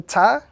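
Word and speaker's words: ت: When we look at the pronunciation of this letter is pronounced when the tip of the tongue touches the roots of the two front teeth.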